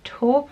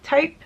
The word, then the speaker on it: taupe: is the multitasking talk I think it's called taupe I always say talk it's just my dyslexia if I have a word in my head I'd even though I know how to say it properly I'll still say it